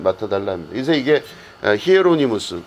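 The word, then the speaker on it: Hieronymus: 그게 바로 뭐냐면 제롬, 그러니까 제롬은 영어식 발음이고 이 사람의 원래 이름은 히에로니무스라고 하는 이름입니다.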